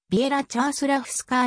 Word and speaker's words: Věra Čáslavská: の女子体操選手実際の発音はビエラチャスラフスカあーに近い 1998 年に国際